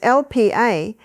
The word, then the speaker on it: Lp(a): The first blood test you need to know about is called Lipoprotein A, written as LPA and pronounced LP(a).